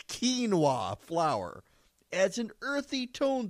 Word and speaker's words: quinoa: additions quinoa flour which Quine OA is how it's spelled but it's quinoa flour adds an earthy